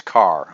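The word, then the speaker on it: Karrh: And so, last name is spelled K-A-R-R-H. And I don't know what to do with the H, so I just asked him, okay, how to pronounce your name? It's Carr. Okay, so the H is silent.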